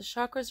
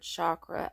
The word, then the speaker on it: chakra: sankrit is actually c-a-k-r-a though pronounced with a CH as in church hence the English spelling chakra the word was also